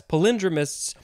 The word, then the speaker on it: palindromists: very confusing sometimes um so yes palindromists is definitely the more proper way to say it maybe sounds a little fancier but also it doesn't sound like the word palindrome um yeah so i